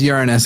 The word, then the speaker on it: Uranus: Anyway, but it is pronounced Uranus anyway. I'm pretty sure that's how Neil deGrasse Tyson does it.